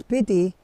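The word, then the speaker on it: Spiti: had in my hometown speedy if you guys don't know about this pity is pronounced as pity in booty or in tibetan language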